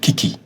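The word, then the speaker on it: 危机: It's pronounced kiki.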